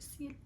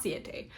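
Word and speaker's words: Ciaté: mascara from the brand I think it's pronounced seat London's ciate seeds not see a day this is their London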